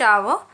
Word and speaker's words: hour: H is a consonant, but it sounds, when we pronounce it, it sounds like a vowel.